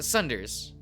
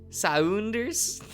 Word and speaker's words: Saunders: oh nick sanders right uh sunders okay okay how how is this pronounced is it saunders saunders saunders right right i don't okay